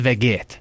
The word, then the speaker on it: Vegeta: It's called veget. Veget. That's how you say it in Albanian.